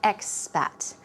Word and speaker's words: expat: a big combination of expats this can be pronounced both ways ex pate or expat I say expat but it's short for